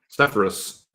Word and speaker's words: Sepphoris: How do you pronounce it? Sepphoris.